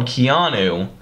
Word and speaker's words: Keanu: is a movie called Keanu. If you haven't seen the commercial, go over and check it out. It's pretty funny. It's like Keanu Reeves.